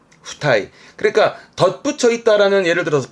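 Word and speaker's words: 付帯: 발음은 후타이, 후타이.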